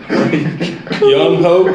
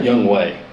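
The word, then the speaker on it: Younghoe: How do you go from the spelling of Young Ho to Yeah. Young Wei? Come on, guys, just say his name. It's Young Ho.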